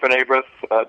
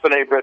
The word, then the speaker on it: B'nai B'rith: I have to admit it was a wonderful experience being at B'nai B'rith, George.